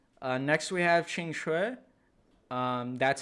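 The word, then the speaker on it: Qingque: she's like B all right next we have Ching Chui um that's how you say it objectively if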